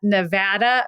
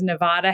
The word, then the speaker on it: Nevada: on perhaps not ridiculed to the degree that Nevada versus Nevada has been ridiculed because I think in some